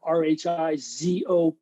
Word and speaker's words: rhizophagy: Now, that's how I pronounce the word, Rhizophaggy, rhizo meaning root, phagy meaning eating, root eating.